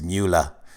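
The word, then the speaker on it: Mueller: box DOJ block regarding Miller evidence I always say his name wrong it's moolah evidence going on investigation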